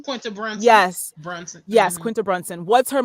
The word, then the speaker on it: Brunson: That's how you pronounce her last name? Quinta Brunson. Yes. Brunson.